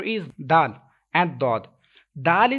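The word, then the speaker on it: دال: letter is done and dal is thin letter okay you will have to pronounce it with thin voice but though this mustard that's why you will have to pronounce this letter with thicker voice if you read god with thicker voice and dal with invoice then you will be able to make difference between these letters revise after me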